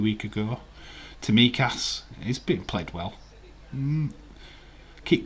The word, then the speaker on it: Tsimikas: Dave T is silent, so it's Tsimikas.